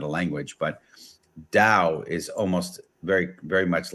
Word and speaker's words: Tao: case anyone doesn't understand Tao Dao it's pronounced with like almost like a D sound but it it's the